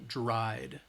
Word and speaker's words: dried: right again we're not it's not that eed we're not adding an additional syllable it's still one syllable dried dried all right it's just that D sound at the end next um let's try